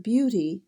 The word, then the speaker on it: beauty: dot but you II you'll notice the word beauty is spelled with a T in English in the Midwestern accent we do not say it as a sharp T will usually change it to a duck sound so instead of beauty